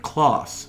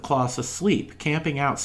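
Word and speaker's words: Klaus: bethlehem and here we meet a mercenary named kloss spelled with a k k-l-a-u-s who comes from northern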